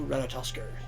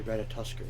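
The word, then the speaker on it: Ratatoskr: Let's go, Ratatosker. Or Ratatosk, technically. I'm pretty sure the R is at the end is silent. But it's just fun to say Ratatosker instead.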